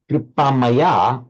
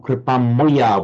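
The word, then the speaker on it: कृपामय: So, Paula, the word kripamaya or kripamoya, which is how the Bengalis would pronounce it, means full of compassion, literally composed of compassion, but full of compassion.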